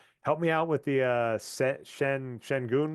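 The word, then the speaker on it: Şengün: people say Shengun. That's kind of how everyone in the media says it. I've heard some people say the real pronunciation is closer to Schengen, but I just say Yeah, I'll Shengun.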